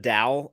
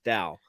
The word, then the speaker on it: Dal: him Doll instead of Dal, and so like every time I say his name, I have to like pause and think and remind myself. Yeah, Yeah. like it rhymes with Weird Al, like Dal or I Mel wanted from to Firefly.